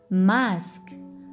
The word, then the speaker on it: masque: Masque. Masque. Oui, ici la lettre S se prononce S. Pourquoi? Parce qu'il n'est pas placé entre deux voyelles. Regardez la lettre qui vient juste après S. C'est la lettre Q. Alors, c'est le son S.